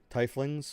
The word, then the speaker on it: tiefling: yeah natural order okay tie flings or t flings uh from the lower planes oh there you go pronounce tiefling so they're specific now i can't guess can't say titling anymore tiefling uh linked my